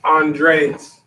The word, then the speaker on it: Andreas: I make sure I'm pronouncing it right. Yes, Andres.